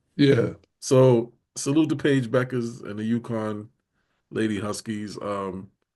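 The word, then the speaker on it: Bueckers: I was calling her Buka, or Bukas, and it was Becker. I just realized the U is silent. It's Becker's. yeah. So salute to Paige Beckers and the UConn Lady Huskies.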